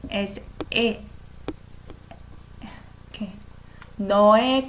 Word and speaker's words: 의: I pronounce this one as 에 because this is possessive. If I say 의사, that's doctor, I'm still gonna say as the way it's written, 의사. But when it's possessive, I say as 에.